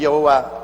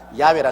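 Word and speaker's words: 야훼: 난 다음에 명하시기를 행하시는 여호와 그일을 지어 성취하는 야 하나님이신데 야라 해도 좋고 여호와 좋습니다 그러나 야외라 말이 더 정확한 발음입니다 이런 하나님께서 시작하셔서 하나님께서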